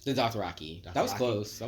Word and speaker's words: Dothraki: And who are the Dothrakians? The Dothraki.